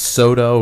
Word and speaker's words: Soto: is your last name pronounced Soto?